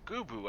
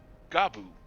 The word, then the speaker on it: Gubu: So that's how you pronounce that. Gubu. I've always been going, Gabu.